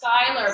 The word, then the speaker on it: Schuyler: differ you know and it's actually pronounced Skyler because um it's a Dutch name and I I specifically